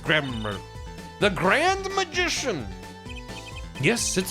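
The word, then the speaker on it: Gramarye: garai oh garai like Ry bread valent it's pronounced grammar the grand magician yes it is I the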